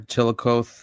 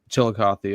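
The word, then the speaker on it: Chillicothe: Chilikoth. Isn't that how it's pronounced? Chilikoth. Uh Chilikothy. Chilikothy.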